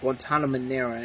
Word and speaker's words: Guantanamera: it's one of the it looks like it says Guantanamo but it's like Guantanamera and I think I'm pronouncing that right but that's the last